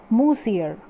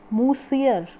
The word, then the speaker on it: monsieur: from molsir this word monsieur which is seeming here monsieur m-o-n-s-i-e-r in french the pronunciation of this word is moosier it is what moosier musil and madame loisel